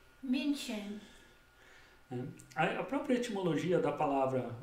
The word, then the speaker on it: München: Mais especificamente para o século XIV, na região de Munique, na Alemanha, que se pronuncia München. A própria etimologia da palavra Munique, que é München ou München, que significa justamente terra dos monges em alemão.